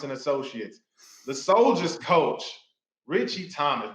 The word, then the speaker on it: Ritchie: Associates, the Soldiers coach, Ritchie Thomas. Ritchie, don't call me Rich T. Thomas, whatever. I love it, man. If y'all don't know, the T is silent.